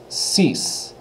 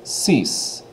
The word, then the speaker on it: six: you can see it's spelled exactly the same as our English counterpart pronunciation is a little bit different though it's ceas ceas instead of six they say ceas so what do you